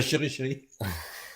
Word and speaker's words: CheryChery: Et chéri chéri, j'insiste, ça s'écrit c h e r y. Un seul R en deux mots, enfin deux mots collés.